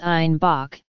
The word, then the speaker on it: Einbeck: Due to their Bavarian accent, citizens of Munich pronounced Einbeck as Einbock, and thus the beer became known as Bock.